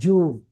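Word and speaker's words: June: যা যেমন judgement judgement right jealous এই দেখেন জুন তারপরে যা সাউন্ড উচ্চারণ করতে হবে না জুন বললে হবো জুন যা জেড দেওয়া হবে না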